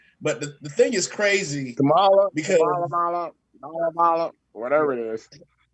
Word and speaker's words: Kamala: Or Kamala, I have to make sure because I believe it's Kamala is how she pronounces her name. But the thing is crazy. Kamala, because Kamala, whatever it is.